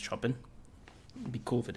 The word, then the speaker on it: Chopin: I think it's pronounced Chopin.